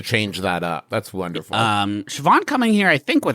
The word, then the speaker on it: Siobhan: It's Siobhan. I believe an Irish name pronounced Siobhan.